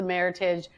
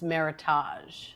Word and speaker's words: Meritage: She orders the Meritage, and the sommelier said, "Excuse me, it's Meritage."